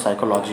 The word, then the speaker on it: psychology: ठीक, ये होता है, क्योंकि थोड़ी सी डिमांड आई थी साइको के रिलेटेड वर्ड बताने की, कि वो लोग स्पेलिंग कुछ और होती है, बोलने कुछ और लगते हैं, तो साइकोलॉजी की स्पेलिंग ये होती है PSYCHOLOGY।